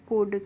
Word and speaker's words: could: तो इसके बाद है हमारा फ्रेंड्स COULD, और COULD को हम पढ़ते हैं कुड। क्या पढ़ते हैं? इसको हम कुल्ड नहीं पढ़ते हैं।